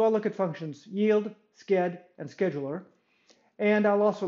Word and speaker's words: sched: at these three functions i'll pronounce this one skid so i'll look at functions yield skid and scheduler and i'll